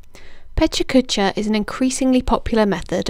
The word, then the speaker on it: Pecha Kucha: uses the 2020 format the phrase pecha kucha sometimes pronounced petruchika translates to chit chat